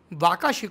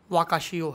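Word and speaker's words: Wakashio: स्वाति ने बताया कि वीडियो में हमने जिस जहाज का नाम वाका शिव को बताया जापानीज में उसका सही उच्चारण वाशियों है इसके लिए मैं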